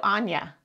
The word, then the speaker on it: Anya: So, Anya. Like Tanya with no T, Anya.